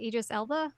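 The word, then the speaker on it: Idris Elba: um August 10 2021 it was anoun it Idis Ela is that how you say his name yes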